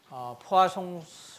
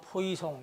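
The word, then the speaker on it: Poisson: 자, 이제 또 새로운 내용을 이제 3.6절에서 하는데, 이것은 뭐냐면 포아송 레이쇼라고 하는 거예요. 이 불란서 사람이기 때문에 발음이 딱 읽으면 포이송 이렇게 되겠지만 포아송입니다.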